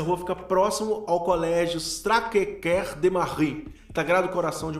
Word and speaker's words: Sacré-Cœur: Ele não usa a pronúncia no francês, mas ele fala Sacré-Cœur.